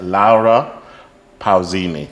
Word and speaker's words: Laura Pausini: I shall pronounce it properly, not the English version. I should say Laura Pausini.